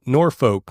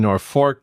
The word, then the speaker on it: Norfolk: in Norfolk Nebraska no it is in North Fork Nebraska is and that's that's not a huge joke that they're playing on the rest of us everybody it really even though it's spelled n o r f o l k yes it's not Norfolk no and you can